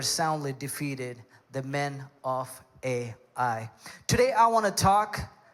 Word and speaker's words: Ai: out the town of Ai. It's not artificial intelligence, all right? It's actually called Ai.